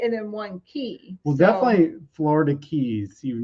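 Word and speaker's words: Cay: Okay, so it is pronounced key. K, but pronounced key.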